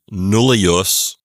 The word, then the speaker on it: nulli: In the genitive singular, it would be nullius. In the dative singular, it would be nulli, with a long I ending.